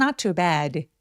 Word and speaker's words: not too bad: 그래서 이 표현은 무언가를 부드럽게 왜곡시켜서 표현할 때 많이 쓰는 It's not too bad 입니다. 근데 이거 발음할 때 중요한 게 있어요. 뭐냐면 not too bad 셋 다 엄청 길게 표현을 해주셔야 돼요.